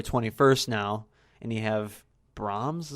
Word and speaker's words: Brahms: now and you have Brahms how you pronounce it Brahms the boy to which I don't know anything about looks like a horror feeling its Bram's Bram's because the H softens yeah then the call